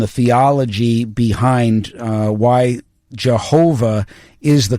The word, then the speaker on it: Jehovah: They've got a tremendous article there uh that goes into the history and the theology behind uh why Jehovah is the correct pronunciation and not Yahweh.